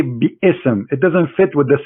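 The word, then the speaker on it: بسم: say you see here you don't say be sm no more here they say bism so it's not an error scribe it's an error in a pronunciation are you getting my point because they are not saying when they recite the quran they don't say be ism and it's written wrong no they they recited bism and i will tell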